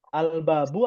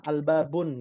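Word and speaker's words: الْبَابُ: Al-babu atau al-babun? Al-babu. Al-babu. Ya. Domah saja, jangan sampai lupa. Ya. Di kelas lain, di kakak kelasnya Ummahat masih ada yang kadang bacanya salah, al-babun gitu ya.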